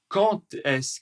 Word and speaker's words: quand est-ce: Attention à la prononciation qui va être très rapide parfois et qui aura un peu comme une liaison entre le D et le E.